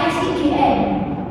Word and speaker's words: sign: Bisa kayak kata, ini nggak banyak juga kayak kata sign, tanda, tulisannya S-I-G-N, bacanya sign, bukan science, beda ya.